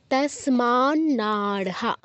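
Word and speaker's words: तस्मान्नार्हा: হিথম হত সুখিনাম মাধব তসমান নারহা তসমান নারহা দুটো ন আছে এর পর একটা ন উচ্চারণ করতে হবে নারহা আলাদা তাসমান নারহা না স্মাতে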